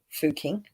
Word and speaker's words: Fugging: renamed to fugging but it's still pronounced fooking even though it's the spelling's changed one in lower Austria